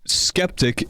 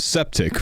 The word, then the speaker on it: skeptic: Uh, why is it pronounced scepter? But skeptic isn't pronounced septic. It's cuz skeptic's spelled with a K.